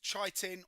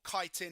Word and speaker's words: chitin: Um it's chitin or kitin, however you like to pronounce it.